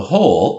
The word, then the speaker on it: whole: Maybe we should just think of whole, but it has the silent W at the front.